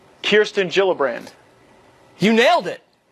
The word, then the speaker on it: Gillibrand: right here alright so Kirsten Gillibrand not Gillibrand it's a soft cheap now the Minnesota woman